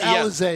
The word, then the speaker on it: Alizé: Yeah, Alizé is how it's said.